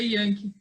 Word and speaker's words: Janke: Yankee, é origem alemã? Isso, origem alemã. Em alemão, o J, em alemão, ele tem um som de I, né? Então, por isso que a pronúncia é Yankee.